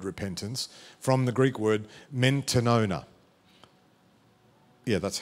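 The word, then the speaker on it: μετάνοια: Repentance stems from a Greek word, as we know the word repentance, from the Greek word mentanona.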